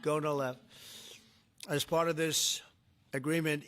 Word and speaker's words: Gonal-F: So it's Gonal-F. Is that a proper pronunciation? Very Close well enough, said. right? Very well said. Gonal-F.